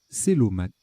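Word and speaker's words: cœlomate: Je pense que c'est Kelomate. Kelomate. Célomate. Célomate. Oui, bah oui.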